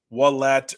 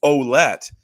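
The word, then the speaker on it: Ouellette: part of a year we called um AJ olette AJ wallet or ulette um due to the perceived frankophone pronunciation it was only when a family member of his reached out to us kindly and said heyy by the way it's olette that we we were stunned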